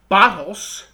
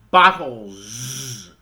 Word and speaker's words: bottles: that I'm not saying bottles I'm saying bottles with a Z even though it's spelled with an S the pronunciation the sound